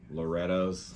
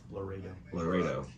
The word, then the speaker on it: Laredo: Basically, any Lorettos. How do you say it? Laredo. Laredo.